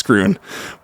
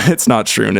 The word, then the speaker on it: Schroon: Tap House, I'm like, how do you say that? Is it Schroon? He's like, no, it's Schroon. It's not Schroon. It's Schroon Lake.